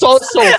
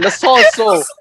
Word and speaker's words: Lo Celso: is Lo Celso, fam. Lo Celso.